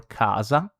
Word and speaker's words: casa: Just remember that when we have C followed by A, O, or U, it's pronounced like a K.